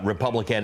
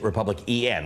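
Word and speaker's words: RepublicEn: Not only did I get your gender wrong, Republican is Republic EN, right? That's how it's said.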